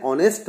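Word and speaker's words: honest: यहां पर ये नोट कीजिए the words are एंड ऑनेस्ट begin with A vowel sound as the consonant H इज not pronounced. जो दो शब्द हैं आर और ऑनेस्ट जो आप देख रहे हैं ये वोवल साउंड से शुरू हैं क्योंकि एच को उच्चारित नहीं किया जाता।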